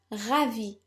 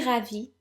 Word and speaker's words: ravi: Now, if you're female, you need to add an E at the end of ravi, but this doesn't affect pronunciation at all. So, je suis ravi means I am delighted.